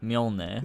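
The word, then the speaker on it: Mjölnir: Just wondering, how do you pronounce the name of Thor's hammer? Oh, Mjolnir.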